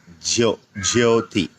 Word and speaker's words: Jyoti: When we say the word Jyoti, the Sanskrit term has a J-Y, Jyoti, Jyoti.